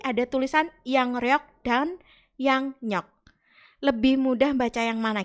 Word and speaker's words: 양력: Yang nyok. Kenapa begitu? Karena ketika ada bacim ing bertemu dengan awalan real, maka realnya diganti nien. Maksudnya diganti itu adalah dibaca ya, dibaca nien. Tapi tulisannya tetap pakai real. Bacanya jadinya adalah yang nyok, bukan yang riok.